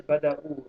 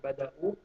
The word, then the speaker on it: bada'u: So the sound is bada'u. How you say it is bada'u.